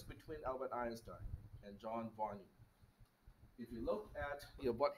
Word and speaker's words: von Neumann: Or as I was corrected, it is supposed to be pronounced as von Neumann architecture.